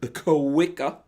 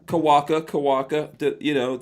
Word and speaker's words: Kawika: Our guest is Kawika. Am I saying it right? We're gonna Kawaka. There we go.